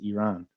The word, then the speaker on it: Iran: Uh just circling back to the beginning of the episode, the correct pronunciation of uh Iran in English is Iran.